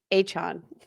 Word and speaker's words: Achane: Miami Dolphin running back, Devin, you want to pronounce it? Achane.